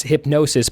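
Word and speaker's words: Hipgnosis: would be let's see it says pronounced like hypnosis so it's hypnosis but it's spelled H IP g and OS is so hypnosis is that company that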